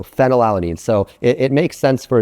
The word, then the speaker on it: phenylalanine: Fortunately here, an easy way to remember this is that phenylalanine is pronounced, it starts with F, so phenylalanine.